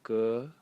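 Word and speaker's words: 革: Target, and again the phonetic element is on the right side, and the semantic element is on the left side, pronounced ge, and it is leather.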